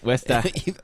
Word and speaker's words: Worcester: He How do you is a pronounce Boston it? boy. Worcester. Worcester. Westa.